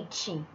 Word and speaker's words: ate: O verbo to eat, o passado, né, do verbo to eat é ate, né? A pronúncia é semelhante ao numeral 8, né?